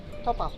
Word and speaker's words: topa: Topa.